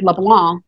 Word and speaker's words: LeBlanc: French and no one everyone wants to put that fee on there where you hear the pronunciation of it but it just goes away like a lot of French words you know the last three letters just kind of go off to have a party by the time and